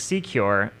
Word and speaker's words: SeCure: But the United Kingdom government is currently funding it, and it is called Project Secure, which sounds like the word secure, so it's a cute little pun with C and cure.